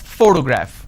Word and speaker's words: photograph: I pronounce this as photograph which means I'm stressing on the first syllable but when I look